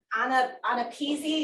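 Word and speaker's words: AANAPISI: Anapeasy is the way they actually pronounce it as sound, Anapeasy.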